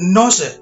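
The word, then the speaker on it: nous: katanya bisa ditelusuri yaitu kata noun dan Nose demikian pelafalannya kata inilah yang membentuk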